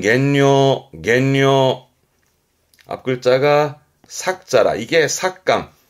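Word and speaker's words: 減量: 양을 줄이는 감량의 발음은 겐뇨, 겐뇨.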